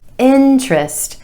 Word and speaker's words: interest: interest interest not interest interest with emphasis on the first syllable and the vowel sound